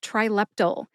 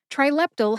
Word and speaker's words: Trileptal: Next up is the brand name trilpyl. Trilptal has three syllables. Try like you're trying to say this drug name. Lep as in epilepsy and tull like the last syllable in the word accidental.